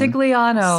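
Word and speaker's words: Scigliano: Eric I'm not sure how you pronounce his last name. Sigano.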